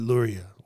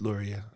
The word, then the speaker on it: Luria: No, I said Luria. Maybe I just sound funny, but it's Luria. I know.